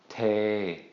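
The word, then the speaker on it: เท: When we put these two together, low plus long vowel equals long midtone. So we're going to say this as te, te, te. Okay? The word te in Thai means to pour, okay? Like pouring water or something. Te. Make sure you draw that out a good bit.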